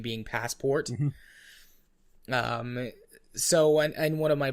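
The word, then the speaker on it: Passepartout: pronounce it I'm different his name is actually pronounced passport Oh what was it sure it's like yeah okay is that who's supposed to be passport because I'm yeah but yeah no his name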